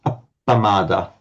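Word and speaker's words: appamāda: is a praada now you can't begin a word with a double p but as soon as the vowel comes in front of it you're allowed to again that is why pramada becomes pada in parley but becomes a pamada in in in Pali.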